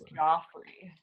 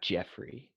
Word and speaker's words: Joffrey: His name is Joffrey. Yeah, not Jeffrey.